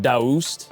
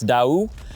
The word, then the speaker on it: Daoust: Well, Chase, quite honestly, most people in America would probably call it Dowst or Dowst. Um, our our slogan is actually going to be say it your way. We don't care how you say it, just as long as you know what the company is and everything, but it's Dau.